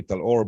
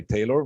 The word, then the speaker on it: Talor: definitely so um yeah my name back in israel back here in islam they call me talor but in the states i usually uh i'm usually called by taylor which is easier to pronounce so my name is